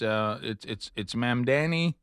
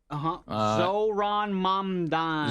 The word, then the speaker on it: Mamdani: It's Mamdani. Zohran Mamdani.